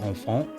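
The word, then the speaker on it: enfant: even thinking uh in in French infant is pronounced on font and even then it's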